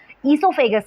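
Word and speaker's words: oesophagus: इससोफेगस कहते हैं। इसकी स्पेलिंग ओ से स्टार्ट होती है।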